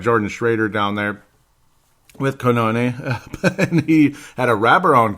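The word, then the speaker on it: Cannone: Pat Canone, that's how they say it.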